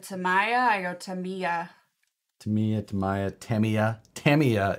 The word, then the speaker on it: Tamiya: Tamiya is actually the correct way. We were told by Tamiya when we had them on the live show, Matt and I.